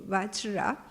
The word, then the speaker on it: Vajra: later, when Vritasura was killed, is that the Varja Vajra, so the pronunciation is not easy for me. The thunderbolt, the weapon of the Indra's weapon, the thunderbolt is Vajra. Sorry, thank you, Vajra.